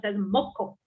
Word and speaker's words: Mocho: Mocho pronounced as Moko.